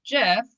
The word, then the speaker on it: GIF: like prescribe to but the inventor says jiff and i want to respect people oh okay all right whoever developed it if that's the pronunciation then i yeah i'm going with that but there are some sociologists